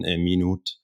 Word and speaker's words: Minuth: Someone told me once that it's a French name and it's pronounced ''Minute''. But yeah, in the end, I am very pragmatic. I'm okay with Minuth, the English pronunciation. And I myself, I usually say it in German, Minute.